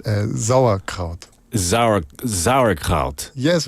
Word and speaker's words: Sauerkraut: you so it's not sarut guys it's Zar exactly the S is like a bit stronger yeah it's very difficult